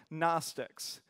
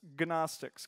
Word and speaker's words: Gnostics: a normal man and these people were called Gnostics and if you want to pronounce it like it's actually spelt its ganach sticks cuz there's a G in front of there and if